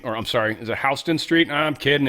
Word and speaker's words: Houston: And I'm like, "The dude just mispronounced Houston." What? How weird is that? And then he said it again. I'm like, "That's not mispronounced. That's That's how they pronounce it."